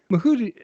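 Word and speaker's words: Cuora mouhotii: Is Steve I tell me how is I pronounced? I mahudii. Okay.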